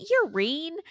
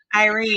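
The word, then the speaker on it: Yrene: called you, I said, "Is it Urine? I'm reading it as Urine, and you're listening." Well, I was listening to it too, but for some reason, I kept wanting to call her Urine, but it was that sounds like I urine. know, that's what you kept saying. So how do you say it? What was it again? Irene. Irene. It was Irene.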